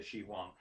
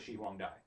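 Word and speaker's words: Shi Huangdi: and it says uh his name is she huang dai okay what say just say shi wang but his full name is shihwang dai d-i not d-i-e xi long was an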